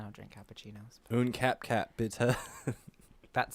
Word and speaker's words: bitte: Bitte. Bitte. Par favor. Por It's like favor. saying bitter, but with an accent. Bitte. Bitte. Bitte. Un cappuccino, bitte. I don't drink cappuccinos. Un cap bitte.